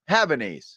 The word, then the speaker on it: Havanese: means in Cuban how how do you say it Havanese yeah has bad knees yeah has bad knees